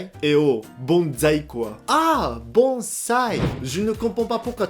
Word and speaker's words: bonsai: Ah, bonsai! Je ne comprends pas pourquoi tous les Français appellent ça bonsaï, alors que c'est bonsai.